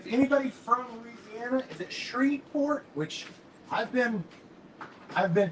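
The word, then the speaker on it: Shreveport: from Louisiana is it shreport which I've been I've been told by numerous people man don't don't you don't pronounce the V that's where I went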